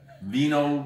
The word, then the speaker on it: vino: They don't pronounce V's here. Vino.